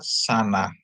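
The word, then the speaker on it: שנה: Terus ada sin, dikasih kamats, nun dikasih kamats, dia bacanya shin dikasih kamats sa, nun dikasih kamats na, jadi tambah he, jadi bacanya sana.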